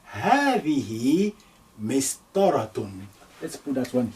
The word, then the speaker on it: هذه: This is in your pronunciation, there will be lengthening, but when we write it down, we're going to omit that. So هذه. When we write it, we will say هذه. Again, let's cross out that alif.